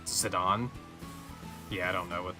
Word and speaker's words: Zidane: because that's wrong yeah I always thought it was like zidane I think some people thought it was zidane but it's zidon yeah I don't know